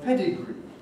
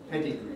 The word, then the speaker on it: pedigree: a weak vowel similarly when we take the word pedigree that has got to end in e strong e pedigree nobody says pedigree on the other hand